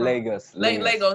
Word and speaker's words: Lagos: And so you're a resident of Nigeria, and I think is it Lagos? I don't want to pronounce it wrong. Lagos.